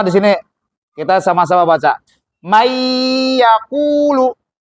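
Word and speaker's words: مَنْ يَقُولُ: Nah, nunnya ini melebur menjadi ya. Jadi nunnya nggak dibaca. Nggak boleh kita bacanya man yaqulu, nggak boleh. Ya, karena apa? Nunnya itu berubah menjadi ya, menjadi huruf yang setelahnya. Makanya disebut dengan idgham.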